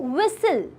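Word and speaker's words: whistle: doubt इसमें बी और विसल विसल में टी साइलेंट है अब करना क्या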